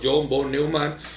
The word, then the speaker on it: John von Neumann: Bueno, Minimax surgió de la mano de matemáticos como John von Neumann, así siempre se pronuncia, uno de los padres de la teoría de juegos en 1928.